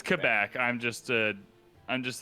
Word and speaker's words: Quebec: yeah it's it's quebec if you said it like as a french person would say it it's not quebec sounds like you're four years old yeah no it's definitely quebec and i'm just a